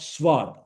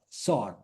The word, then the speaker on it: sword: Wednesday, precede, pronunciation, receipt, not received. Pizza, sword, not sword, sword.